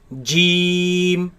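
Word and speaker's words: جيم: Jeem, Jeem, jeem, jeem, jeem. jeem. This letter comes from the middle of the tongue against the middle of the upper palate.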